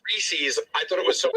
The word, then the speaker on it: Reese's: are you doing i'm gary goes that's reezy's peanut butter cups right you didn't hear me again the guys here told me it was reese's i thought it was